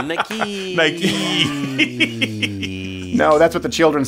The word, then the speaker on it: Nike: I almost put like Nike with like 5 E's after it just to help. Yeah, to just read it out phonetically. Nike.